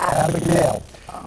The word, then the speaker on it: Abagnale: That guy Frank Abagnale, and when you say his name right now, Abagnale.